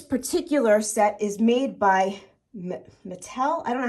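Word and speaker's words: Matl: It is Taxco sterling, but it's Mattel, M-A-T-L.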